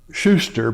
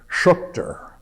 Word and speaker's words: Schuchter: Some of his family had started pronouncing the name Schuster because it sounded better. But he went back to the original German pronunciation of Schuchter.